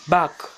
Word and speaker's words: bark: परत पुढं दिसतं आहे तुम्हाला बाक, स्पेलिंग आहे BARK, भुंकणे.